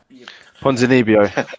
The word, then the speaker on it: Ponzinibbio: As I'm going to pronounce this poor man's name wrong. Santiago Ponzinibbio. Ponzinibbio.